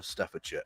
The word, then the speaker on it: Staffordshire: counties, those being Warwickshire, Staffordshire and Worcestershire. And yes, for any Americans watching, that is how you pronounce those place names.